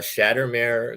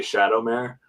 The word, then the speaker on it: Shattermare: nice uh and so your company is uh shattered mayor comics yes and you just got this awesome